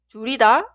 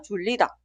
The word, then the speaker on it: 줄이다: 줄이다 es la pronunciación correcta. Nunca se pronuncia 줄이다.